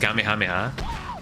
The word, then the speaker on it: Kamehameha: the loudest and longest Kamehameha. And yeah, I call it Kamehameha, not Kamehameha, because you know, no, that's that's just not how you pronounce it.